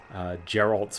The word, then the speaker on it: Geralt: I remember there was one clip I saw somewhere which was like, they asked Geralt's voice actor. Geralt, or was it Geralt? It was a hard G.